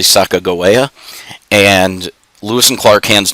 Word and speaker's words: Sacagawea: for their guide sacagawea she is mispronounced in history as sekejawea her name was actually sacagawea and lewis and clark